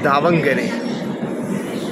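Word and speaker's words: Davangere: So actual pronunciation দাবাঙ্গেরে, জায়গার নাম DBG, station code, আর 2 minute দাঁড়াচ্ছে এখানে, 10 মিনিট লেট ট্রেন।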